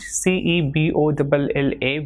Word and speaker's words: cebolla: word like same is the sound produced by C when it comes before the vowel E and I, that is say or see. So for example, CENA will be cena, and CEBOLLA will be pronounced as cebolla. Same way, CERRAR will be pronounced as cerrar, and with I it